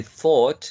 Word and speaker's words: thought: And finally, thought. It's a long O. Thought. Okay, thought.